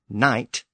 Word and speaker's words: knight: And no word represents that change better than the word knight. From knicht to knight, we can hear the evolution of English.